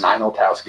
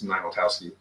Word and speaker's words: Ninoltowski: Ninoltowski. I didn't want to pronounce it wrong. But, yeah, because I remember it sounded like final, so it's Ninoltowski.